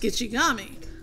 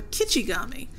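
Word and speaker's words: Gichigami: The name for the lake is Gitchigami, pronounced Gitchigami. Or Kichigami, meaning Great Sea.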